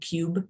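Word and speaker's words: Qube: me talk about now is called Cube money and it's spelled with a Q q-u-b-e money and it's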